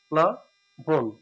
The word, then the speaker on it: প্লাবন: হবে প্লা প্লা বন প্লাবন সঠিক উচ্চারণ হছে প্লাবন অবান হয় ব থাক